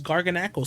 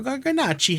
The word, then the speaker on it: Garganacl: So the next pick we got was Garganacl, so, or Garganachi, however you want to pronounce it, man.